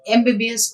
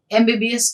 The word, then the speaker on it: MBBS: So CM inaugurated an MBBS college. So an MBBS college, even though the word is a consonant, but the sound of the word when we are pronouncing gets the vowel sound at the beginning.